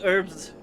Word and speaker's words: herbs: pronounce like you pronounce we pronounce herbs as herbs cuz they're there's a goddamn H in it it's like that's logic